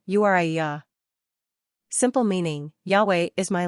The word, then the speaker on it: Uriah: Hebrew number of syllables three ranking popularity 539 pronunciation Uya simple meaning Yahweh is my light characteristics of